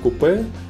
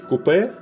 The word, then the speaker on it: coupé: There are two versions in dictionaries, French-British coupé and more American coupe. I traditionally use coupé version, and which one do you use?